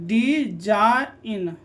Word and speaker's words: design: ठीक है, तो DESIGN, डी जा इन, जी साइलेंट है।